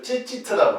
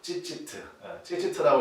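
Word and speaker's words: ציצית: 뭐라고 읽냐면 이걸 찌찌트라고 그래요. 찌찌트라고 이렇게 읽는데, 그래서 찌찌트 이 정도는 여러분 좀 기억을 하시면 좋겠습니다.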